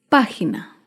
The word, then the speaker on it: página: de una palabra esdrújula es página página se acentúa en la antepenúltima sílaba la página recuerda todas